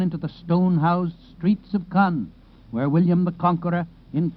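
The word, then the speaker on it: Caen: 40 Mi Northwest of k k by the way is spelled c a n it is near e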